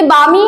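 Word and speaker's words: balmy: आगे है बामी। इसमें एल साइलेंट है गाइस, देखिए एल है ना, ये एल, ये साइलेंट है, ये बामी है।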